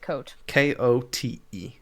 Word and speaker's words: Kote: I also pronounce it Coat. Kote. Coat sounds weird because it sounds like I'm saying the word coat, as in like I am wearing a coat.